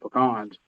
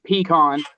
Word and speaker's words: pecan: Same with pecans. They're both really good for your brain. And it's pronounced peon, not pecan.